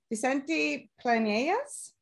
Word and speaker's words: Vicente Planelles: Vicente Planelles.